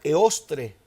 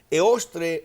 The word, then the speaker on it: Eostre: De Germania, ellos tenían a una diosa, a una deidad llamada Eostre. Se escribe E-O-S-T-R-E.